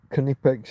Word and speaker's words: Knipex: Knipex is a brand where the K is supposed to be pronounced.